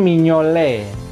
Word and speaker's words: Mignolet: Mio Mio kemudian akhiran Ate itu alfabet ya bacanya e Simon mignolet tuh seperti itu Nah ini terakhir adalah kipernya